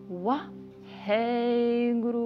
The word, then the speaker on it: Wahe Guru: hey you pronounce very fast, and guru you chant like guru, so you make longer the last part of the word. Wa hey guru.